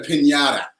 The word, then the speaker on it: piñata: What do you traditionally have in a piñata? You have to say it like that. Piñata.